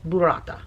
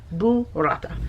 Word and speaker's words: burrata: Pronounced properly, it's burrata. Like a boo. Like boo. It's Halloween, right? Boo-rata.